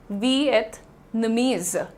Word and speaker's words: Vietnamese: और प्रोनाउंसिएशन क्या हो जाता है यहाँ पर, इट is very simple, वियतनामीज, इट इज नॉट वियतनामीज, इट इज नॉट वियतनामीज, क्योंकि कंट्री का नाम डेफिनेटली वियतनाम है।